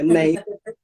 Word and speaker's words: Neighla: If you just type the house and my name, which is spelled Neila, spelled kind of like Neighla, so think of neighbours. So Neighla yeah, and it will come up.